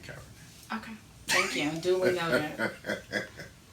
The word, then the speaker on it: Kaepernick: And it's Kaepernick. Kaepernick. Okay, I just want to make sure you know how to pronounce it.